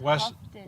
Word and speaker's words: Houghton: It's Houghton.